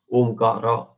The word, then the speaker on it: Omkara: Vyakrana also tells us it is Plutha. So Rasva Dirga Plutha. So it is Trimatrika. There are three matras consumed when you pronounce Omkara.